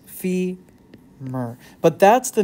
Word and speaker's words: femur: that's the femur bone femur spelled like this fee Mer but that's the name